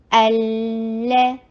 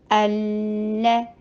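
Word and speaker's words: الله: हु, दलिल, मुत्तकीन, अल्लाह, फतह के जबड़े को खोलिए, लाम के ऊपर थोड़ा सा टाइम दीजिए, और फिर लाम टू लाम है ना, तो दोनों को प्रोनाउंस करना है, तो फतहा वाले लाम के लिए जबड़े को खोलिए, लेकिन सुकून वाले लाम के लिए अपने होंठों को बिल्कुल नॉर्मल जगह पर ले आइए, अल्लाह, दी टू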